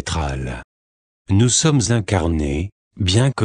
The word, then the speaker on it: Troll: Notre planète est connue sous le nom de Troll, prononcé Tral.